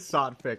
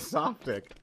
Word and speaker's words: Sotfig: It is Sotfig. I thought it was Softic.